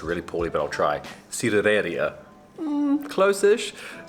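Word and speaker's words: sidrería: We're going to, I'm going to say this really poorly, but I'll try, cidereria. Close-ish. It's like a cider bar, a cider restaurant, but that's the Spanish pronunciation with a Kiwi accent.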